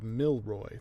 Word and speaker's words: Milroy: But yeah, then she hears this, and she's like, 3 syllables, but my name is Milroy. That's 2 syllables.